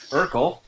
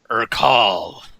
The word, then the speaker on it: Urkal: No, not Urkel. Urkal. Oh. Look Bouquet. me God in damn it, the Dave. eye. You did this to me last campaign too, you bastard. Yes, the syllable that gets emphasized does matter, damn it.